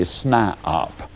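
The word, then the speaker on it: SNIOP: become what I call a snop now that's spelled s ni i o p that is a person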